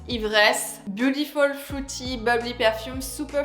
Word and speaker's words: Ivresse: So pronounce Ivresse.